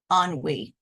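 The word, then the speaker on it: ennui: most next time I keeping it very short pronunciation onwe onwe also Henry etymology mid 18th century French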